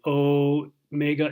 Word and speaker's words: omega: And then the omega is the mega, big, the long O.